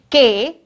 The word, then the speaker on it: knife: K-N-I-F-E. It is knife, isn't it? It is knife. See this children, the spelling is K-N-I-F-E. But here K is silent. We will not say K.